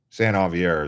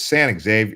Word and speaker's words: San Xavier: San Javier is how you say it. It's San Xavier. It looks like it's San Xavier, but it's San Javier.